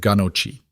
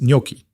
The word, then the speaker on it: gnocchi: I said ganochi. It's gnocchi. Noah shook his head.